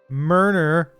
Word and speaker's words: Murner: Murner with an N.